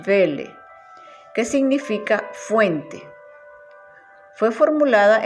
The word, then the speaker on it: Quelle: Para una mejor comprensión, la fuente Q proviene del alemán Welle, se escribe Quelle, pero en alemán no se pronuncia la U, sino que la U es una B, entonces decimos Welle, que significa fuente.